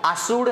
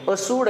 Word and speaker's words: असूड: यांची दोन पुस्तक आहेत शेतकऱ्याचा असूड असूड आहे आसूड नाही लगेच आजपासून आपण काना मात्रा वेलांटी कडे पण लक्ष दिलं पाहिजे शेतकऱ्याचा आसूड नाहीये असूड आहे अला काना नाहीय